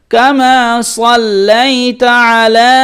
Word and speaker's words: كما صليت على: লাম জবর সাল লাম ইয়া জবর লাই সাল্লাই তা জবর তা কামা সাল্লাইতা আইন জবর আ আইন জবর আ গলার মধ্যে চেপে লাম খাড়া জবর লা এখানে তিন আলিফ টান যেখানে তিন আলিফ টান হয় সেখানে ঢেউ খেলা মতো একটি চিহ্ন দেওয়া থাকবে আলা কামা সাল্লাইতা আলা كما صليت على كما